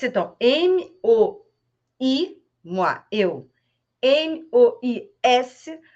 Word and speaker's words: mois: M-O-I-S, mas muitas palavras no final das palavras francesas, nas últimas letras, principalmente E, não são pronunciadas.